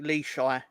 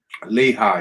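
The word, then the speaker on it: Lichaj: He was, but Eric Leshai, I think it's pronounced that way. Lehigh, isn't it? Lehigh, yeah. Oh, Lehigh then. Oh, fair enough, fair enough. It's the J at the end is a bit odd, but yeah, I mean it's his name.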